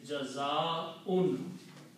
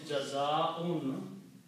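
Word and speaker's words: جزاء: And the noun from this is Jaza'un. Jaza'un means reward. Okay, the full word is Jaza'un. And when we stop, we say Jaza. Okay, but the full word is Jaza'un, reward.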